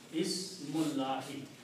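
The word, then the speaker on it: بسم الله: Ismullahi. Okay. Now separately as ismu and Allahi. When you read them together, you do not pronounce this alif in between. It will be Ismullahi. Ismullahi is the correct statement.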